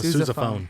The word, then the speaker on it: sousaphone: syllables. That's yeah. completely What's fine. it? Wait, what's it actually called? A Sousaphone.